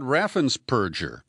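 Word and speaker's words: Raffensperger: decided the problem is Brad Raffin purger and that is the preferred pronunciation of Greg palast who has done a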